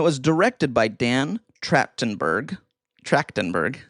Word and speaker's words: Trachtenberg: Trachtenberg. How do you say it? Trachtenberg. Yeah. Tracton, like a As tractor. in like track race. Okay. Oh, yeah. Tractor. Tractin. Trachtenberg. Trachtenberg. Trachtenberg. There you go.